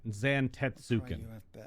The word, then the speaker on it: Zantetsuken: her thank you yeah Zan tetsuki just four four full syllables yeah that's how most